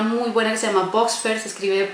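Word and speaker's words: Buxfer: Recomiendo, hay una muy buena que se llama Voxfer, se escribe B larga UXFER.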